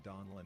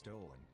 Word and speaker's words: Donlin: To be honest, we always get his name wrong, including Donlin, who I often refer to as Dolan.